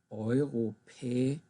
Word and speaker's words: Europäische: Europäische Union. Notice actually that these two are not pronounced together.